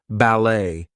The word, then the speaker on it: ballet: other languages Etc so things like ballet Gourmet we are not going to pronounce the T there she's a ballet dancer